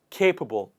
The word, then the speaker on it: capable: please repeat after me with the stress on the first part capable whereas somebody who does